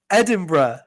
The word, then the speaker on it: Edinburgh: that we have Jay the capital of Scotland Edinburg Edinburgh okay I was trying